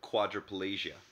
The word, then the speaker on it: quadriplegia: K could also be spelled with the letters QU, like the term quadriplegia.